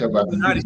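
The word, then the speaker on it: Lou Malnati's: Yeah, it sounds like Illuminatis, but it's spelled Loumalnati.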